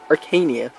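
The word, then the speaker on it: Archanea: Previous two maps, we got people here from the Jugdrali forces, along with some Archanian, yeah, apparently it's pronounced Arcania.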